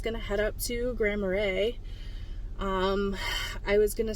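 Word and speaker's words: Grand Marais: was saying it wrong I was saying um oh my gosh I don't even remember how I said it um Grand maras cuz it's um m a r a i s Grand marray that's how you say it oh my gosh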